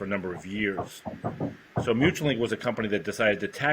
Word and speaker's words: Mutualink: Is that how it's pronounced? Mutualink, correct.